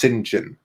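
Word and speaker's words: St John: was like so weird it's written saint john but it's pronounced sinjin but i think that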